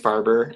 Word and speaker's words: Farber: of your last name it's pronounced farber uh so black fiber blends with harbor that works for me